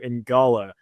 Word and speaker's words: Ngala: It's Ginyu, like you don't pronounce the N on the first word.